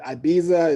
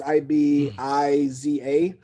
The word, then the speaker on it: Ibiza: to ibiza um i know most people will pronounce it ibiza it's i-b-i-z-a but so like the king of spain had